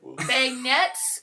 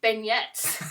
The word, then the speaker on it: beignet: Let's see french beignets, can we help with the pronunciation here? You're the food..." Tyler: "Beignet?" Janelle: "Oh beignet, I thought it was beignets."